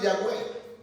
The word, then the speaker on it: Yahvé: Y en hebreo dice, las cuales se pronunciaban algo así: Yahvé. ¿Se han escuchado ustedes escuchar decir Yahvé? Pero también dice que no solamente es Yahvé, sino Yahweh.